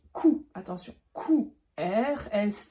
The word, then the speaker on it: Q: P pas de surprise le Q se prononce cou attention qou RS t